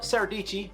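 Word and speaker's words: Dietschy: there so next up saradici rhymes with peachy uh she is into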